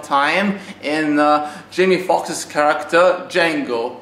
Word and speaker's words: Django: in Jamie Foxx's character, Django. The D is silent.